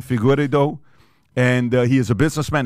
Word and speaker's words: Figueiredo: It's Figueiredo.